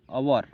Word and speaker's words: hour: Similarly, we write an before words like our, HOUR, our, and honorable.